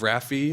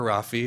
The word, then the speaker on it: RAFI: a founding member of Rafi or Rafi apparently it can be pronounced either way I was informed um